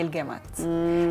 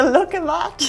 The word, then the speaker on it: al-Gaymat: No, I call it like a look-a-mat. Look, I mean, say it properly. It's al-Gaymat.